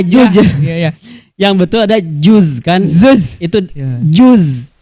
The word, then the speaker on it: juz: Ya mungkin pelafalannya dulu harus kita betulkan, bukan zuz. Bukan Maaf, juga maaf ya, salah kadang berarti orang saya. Sunda juz sabaraha juz. Ya. Yang betul ada juz kan?